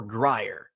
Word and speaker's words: Grier: is a good investment is it Greer or Grier I hear both ways I like Greer you know how I